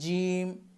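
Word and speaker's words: ج: তারপরে জিম। জিম জিহ্বার মধ্যখান উপরের তালুর সাথে লাগাতে হবে।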